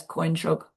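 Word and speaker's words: དཀོན་མཆོག: But the way it's pronounced is like there's a Y before the N.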